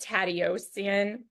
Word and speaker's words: Tateossian: And it's pronounced Tatioian.